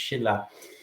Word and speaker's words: Silla: This week's topic is Unifying Silla, sometimes pronounced Silla, sometimes pronounced Shilla.